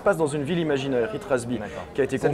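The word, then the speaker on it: Itras By: Ouais, c'est ITRAS-B. Il ne faut pas le prononcer à l'anglaise en fait.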